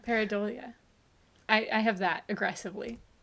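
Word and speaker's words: pareidolia: up pronunc pronunciation yeah peridolia not paranoia that's different paradolia I I have that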